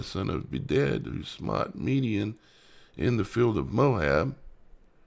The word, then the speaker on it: Midian: Midian, Midianites. And they pronounce it Midian. Midian.